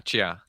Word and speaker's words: Chia: that sense so cheers am i pronouncing chia right yeah chia yeah that's not hard to pronounce it's and that's we